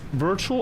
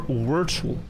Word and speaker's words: Wirtual: Anything is better than if you say word. I have met many people that on first impression and reading it, they say Wordle lyrics says Wordle. Uh some people at the gaming league said Wordle like Whle. But yeah, it's it's easier to say. I don't care for either pronunciation though. I don't care. You pick. Just not Wordle.